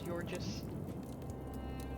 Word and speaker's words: Georgius: Guess we should refer to him as Gorgis since that's the appropriate pronunciation for what he just told us.